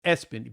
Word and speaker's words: ESPN: It's Espen, but it's spelled ESPN.